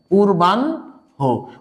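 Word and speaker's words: পূর্বাহ্ণ: তার মানে সে কিসে কনভার্ট হবে দন্তন নয় পূর্বান হো। উচ্চারণটা হচ্ছে পূর্বান হো। আমরা অনেক সময় ভুল করে উচ্চারণ করি পূর্বান্ন, পূর্বান্ন না, পূর্বান হো।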